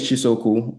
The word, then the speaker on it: Chisaokwu: Um, yeah, my name is Chisoku, but you can call me Chisa. I mean, if you get to pronounce the full name, you score extra extra points.